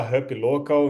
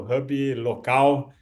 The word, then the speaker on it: HubLocal: cofundador e CEO da Hub local inglês ou Hub local para pronúncia de português vamos lá então tudo